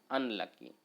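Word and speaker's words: unlucky: पढ़िएगा इसको, अनलकी ना, प्रोनाउंसिएशन क्या होगा, अनलकी। तो पहला अक्षर क्या आ रहा है, ओ आ रहा है ना, अनलकी। ठीक है, यू से स्टार्ट है और प्रोनाउंसिएशन भी हो रहा है ओ वाला, तो ओ तो हिंदी का स्वर होता है ना, ओ हिंदी का क्या होता है, स्वर, हिंदी का स्वर है, इसका मतलब एन यूज होगा।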